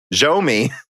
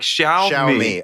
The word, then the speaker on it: Xiaomi: And he goes, but it's basically pronounced as Xiao with a flat tone and me.